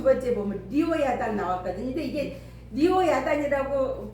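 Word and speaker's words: לִוְיָתָן: 그 다음에 거기 두 번째 보면 리오야단 나왔거든요. 근데 이게 리오야단이라고 발음을 해서 그렇지 이거 우리가 보통 밥으로 번역 이렇게 발음을 하잖아요. 그러니까 밥으로 번역을 하니까는 리버야단 그렇게 해야 돼. 근데 이게 지금 리워야단 하는 것은 리워야단 하는 것은 밥으라고 번역 이렇게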